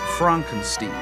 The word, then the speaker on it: Frankenstein: My name. It's pronounced Frankenstein. You must be Igor.